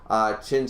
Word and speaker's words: Qin: So it's not common knowledge that the Q is pronounced cha in, okay, so it's China.